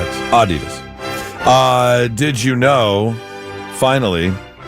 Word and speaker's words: Adidas: It's supposed to be on the first syllable. Not the second syllable. Okay. All day I dream about sex. Adidas.